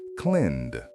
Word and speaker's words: cleaned: Clean ends with an N sound, so cleaned is cleaned.